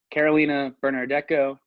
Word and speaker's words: Carolina Bernardeco: Yeah, this has been Carolina Bernardeco. I'm pronouncing that right, right?